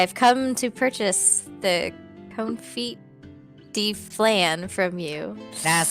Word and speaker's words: confit: I could buy a confit this long you're pronouncing that all wrong dear it's okay it's called the conf it the flan all right